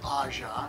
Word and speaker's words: AJA: what is the name aja well it's actually pronounced aja aja is an acronym for my three children